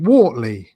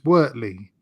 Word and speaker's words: Wortley: I pronounced it Wortley until somebody corrected me. Actually, it's Wortley.